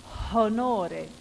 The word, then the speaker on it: honore: Honore, the H was aspirated.